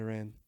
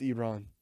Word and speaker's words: Iran: players he was like you're pronouncing it wrong it's uh it's not that Iran it's Iran I um I saw